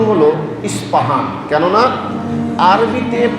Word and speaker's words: ইসপাহান: প্রসিদ্ধ শহর আছে যে শহরকে আরবিতে বলা হয় আল আসবাহানী যার বাংলা উচ্চারণ হল ইসপাহান।